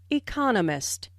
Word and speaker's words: economist: notice the stress on Economist this content word has new information so it is emphasized there are four syllables in Economist with the stress on the second syllable economist he just finished writing